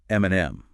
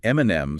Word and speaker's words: Eminem: So, Lindris points out that Eminem spelled his rap name phonetically, e m i n e m, specifically to sound like his initials, m and m.